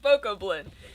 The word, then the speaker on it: Bokoblin: It doesn't rhyme with goblin!